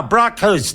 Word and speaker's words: Braakhuis: It's a Dutch name, as you can see, but yes.